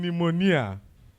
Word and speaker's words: pneumonia: you cannot pronounce them like in pneumonia ponia is what it start with p and we are pronouncing from n why Mel supposed to